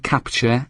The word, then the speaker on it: Captur: despite the missing e its name is pronounced the same as the word capture and Renault hopes it